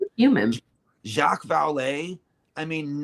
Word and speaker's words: Jacques: So I mean, but then again, like human Jacques Vallée, I mean, none of those letters say Jacques.